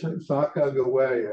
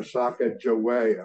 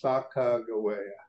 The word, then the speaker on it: Sacagawea: There is Sacagawea, and I'm using the Shoshone pronunciation of her name. A lot of us are familiar with going Sacagawea.